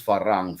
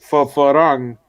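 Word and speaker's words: ฝรั่ง: Now, the way you pronounce farang, for us, there's only one like level, farang. Farang means white guava, but you also use farang for a white person. It depends on how hard or how low you say it.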